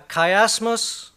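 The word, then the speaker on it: chiasmus: c h i a m u s a kiasmos or a kaym is a series of inverted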